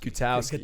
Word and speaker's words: Gutowski: Gutowski, am I pronouncing that right? Gutowski. Gutowski. Yeah, Gutowski, you are from Sparta, New Jersey.